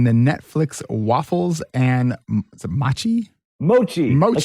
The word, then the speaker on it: mochi: Mochi.